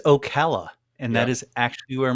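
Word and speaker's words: Ocala: I'm going to say I don't know how you say this Okala Comic Con I think it will be pronounced but someone will it it is Okala and that is actually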